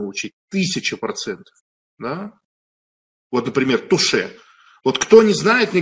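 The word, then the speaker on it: touché: на две лопатки бросают туше это французское прочтение слова тач то есть бросок до касания поняли тач читается как фн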